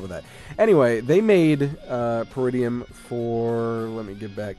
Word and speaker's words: Peridium: fun we're talking about per idiom pretty of is that how you pronounce it that is how you